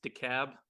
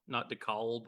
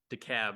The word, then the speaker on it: DeKalb: It's DeKalb, not DeKalb or DeKalb or any other pronunciation. It's DeKalb, like why call a cab when you can call decab?